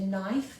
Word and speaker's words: knife: uh we need a knife knife has a silent k at the beginning and we've got our